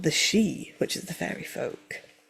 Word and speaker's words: Sith: They are mainly called the she, which is the fairy folk. How's that spelled? S I T H. Sith. Yeah. But pronounced she.